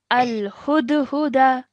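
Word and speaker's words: الهدهد: Now, if you want to take a pause, the last letter has a fatha, which will change into a sukoon now. Okay, so our pronunciation will be al-hudhud. Al-Hudahud.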